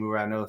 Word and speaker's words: Uranus: So of course, it does derive from that Greek name Uranos, so I will be pronouncing it that way throughout this video.